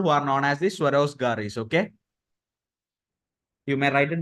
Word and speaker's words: Swarozgar: It's J. Though it's pronounced as Swarozgar, it's Swarozgar. ROJGAR.